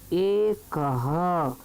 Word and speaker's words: एकः: एकः। का के पीछे दो जो बिंदी रखी हैं वह हा कहलाता है, इसलिए इसमें हम उच्चारण करेंगे हा का। तो एक बार बोलते हैं एकः।